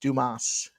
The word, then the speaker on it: Dumas: And the guy goes, "It's pronounced Dumas."